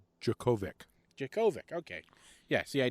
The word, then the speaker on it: Djokovic: Novok Djokov. I don't know how you say that at all. I might have butchered it. Anyway, let me see it. He's Novak Djokovic.